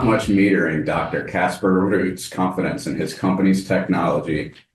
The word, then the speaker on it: Roet: Roet. And I noticed you rolled the R on the first pronunciation and then rolled right back into the straight American.